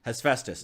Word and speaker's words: Hephaestus: One more time, the pronunciation of the... One more time. Hephaestus. Hephaestus.